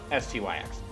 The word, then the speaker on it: Styx: No, I knew it's Yeah, it's just pronounced sticks. Styx.